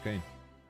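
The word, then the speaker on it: Kain: Believe When I see this, I know he says his name as Kane, but having now played a bunch of Fatal Fury, I now see that name spelled like that and immediately think Kine.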